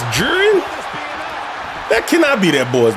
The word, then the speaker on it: Jiren: at AR anime names how do I pronounce it someone spell it phonetically jiren it's jiren that cannot be that